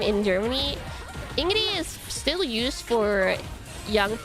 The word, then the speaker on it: Ingrid: It's Ingrid. Like in Norwegian, the D is silent.